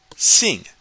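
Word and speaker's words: xin: is Sing Sing so sing which is spelled x i n you should have your tongue should be touching the back of your bottom teeth to pronounce this and you should be making almost a smile with your mouth again repeat after after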